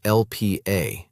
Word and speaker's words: Lp(a): something called lipoprotein A, usually written as LPA and pronounced LP(a).